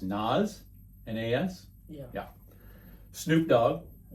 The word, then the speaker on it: Nas: I think it's pronounced Nas, N-A-S.